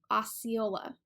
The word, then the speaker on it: Osceola: can be mispronounced is Osceola the spelling can be tricky because you have the S and the C together so it's ah kind